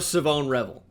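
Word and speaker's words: Shavon Revel: I do love Savone Revel.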